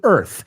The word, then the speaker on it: Earth: punto de expirar, to Earth. Y vamos a pronunciar esa palabra también, por favor, Earth. Imagínate la palabra sin la A. ¿Te ayuda un poco?